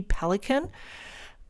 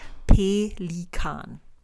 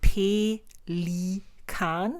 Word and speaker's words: Pelikan: We pronounce it a little different, and that is pelikan. So you would say pelikan. It's made of 3 syllables.